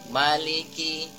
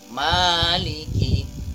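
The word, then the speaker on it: مَالِكِ: atau tidak membacanya panjang ada yang terkadang kita lihat atau kita dengar membacanya miliki tetapi membaca yang benar adalah Maliki Maliki Manya dipanjangkan dua harokat selanjutnya ada Mad layyin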